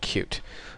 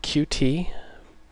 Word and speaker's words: Qt: It's called Qt. It's spelled QT, but it's pronounced Qt.